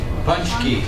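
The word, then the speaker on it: pączki: Punch key. Do you see an N? No n but it's pronounced and let's see if they give me a picture somewhere. Here's a guy eating a punchki.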